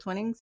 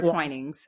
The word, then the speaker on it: Twinings: Um, a Brooks running beanie, a holiday corksicle mug, and a box of is it twinnings holiday tea? Is that how you pronounce that? Twinningings or twinings? Twinings.